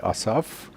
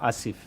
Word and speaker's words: Asif: But when you pronounce that in Pakistan's national language, which is Urdu, we pronounce it as Asif. It's a biblical name. Y en el Urdu se pronuncia como Asif.